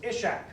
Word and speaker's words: Ishak: Then he said, the C is pronounced like an SH, and so that's how you would spell it, the bottom word, in just common usage.